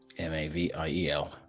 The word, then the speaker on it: Maviel: It's a half-elf named Mavil. For the players of us, how do you spell that? Maviel. So like meal, but with an av in the middle.